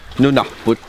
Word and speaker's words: Nunaput: Or Nunaput. Nunaput. Yeah. Okay. First class. So in the Nunaput right now, what we're going to do is Mr.